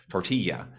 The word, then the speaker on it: tortilla: other languages so uh tortilla in many accents of English is pronounced sort of similar to how it sounds in Spanish with the Double L which would be normally a l sound being more of a y sound tortilla same with the the